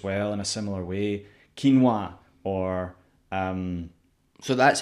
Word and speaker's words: quinoa: Quinoa or...